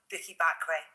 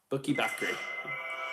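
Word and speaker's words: Bukky Bakray: It is the brilliant Bookie Bakray. Bookie Bakray.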